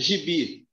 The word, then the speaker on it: gibi: Se eu pegar a palavra gibi aqui, ó. Gibi. A sílaba mais forte de gibi é o bi. Então, se a última sílaba é a mais forte, eu tenho uma palavra oxítona.